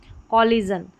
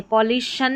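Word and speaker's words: collision: अब जैसे यहाँ पर ये लिखा है कॉलिजन, इसको को कर ले, कॉलिजन, कॉलिजन है, कॉलिशन नहीं बोला है, कॉलिजन।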